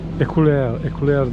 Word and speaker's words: éclair: Fransızca éclair diye galiba telaffuz ediliyor.